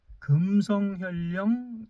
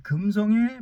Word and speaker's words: 금성: 이제 김으로 발음이 나는데 지금 여기 이제 금으로 발음이 나요. 근데이 지역이 참 재밌어요.이 금성의 바로 이웃 지역이 김화입니다. 근데 김화도 역시 같은 어 한자를 쓰거든요. 근데 거기는 김으로 발음하는 김화고 여기는 또 금으로 발음하는 이제 금성이에요.